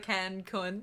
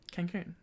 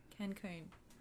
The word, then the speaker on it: Cancun: of milk iconic deflated can con can con can how many times do i have to just bleep that um how do you say it cancun cancun there you go yes i was sorry